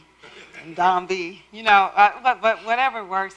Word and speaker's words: N'Dambi: I phonetically spell it out. NDOMBEE. NDambi.